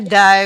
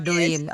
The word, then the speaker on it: duim: di bacanya Ya betul tapi dibacanya da bukan duim Da oke sekarang kalau saya